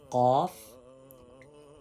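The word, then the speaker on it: قاف: Off cough and cough has thick sound, heavy sound. If you raise your tongue toward pallet, you can make your sound heavy and thick.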